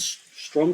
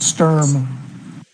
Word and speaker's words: Strum Front: in the room called Strum Front. With my pronunciation skills, that will become really, really Well, you've actually spelled it strum front like strum a guitar, exactly. not sturm, which No, no, no, no, okay.